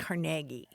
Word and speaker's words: Carnegie: hear again and again carag caragi Carnegie Accent on the second syllable with more of an a than a e right so the Carnegie